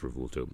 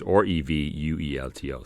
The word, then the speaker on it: Revuelto: I'm still not sure exactly how it's pronounced, but I think it's Revuelto. It's Revuelto, so Revuelto.